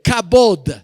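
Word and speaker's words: kabod: palabras para gloria anótenlo una es la palabra cabot con k k a b de burro o d d de dedo cabod y cuando la Biblia habla del cabot de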